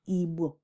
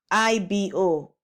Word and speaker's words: Igbo: before that the missionaries, they were confronted with a sound that was alien to them, and that is the B sound, Igbo. So they couldn't pronounce the B sound, Igbo. So they put down the next best thing they could say, which is B. And that's how IBO came about.